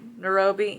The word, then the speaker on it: Nairobi: on stacks and nairobi and that's how you pronounce nairobi yeah and it's really cute you can't really